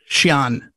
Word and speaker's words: Xi'an: I'm not sure how you pronounce it. Xi'an.